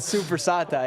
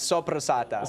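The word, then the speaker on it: soppressata: dude but it's not super sata it's so prosata so you want to roll that r sopressa okay we're learning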